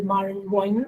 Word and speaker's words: Barenboim: Quoting from Daniel Barenboim, or Daniel Barenboim, as the Spanish pronunciation would be, a long-time musician collaborator of Said.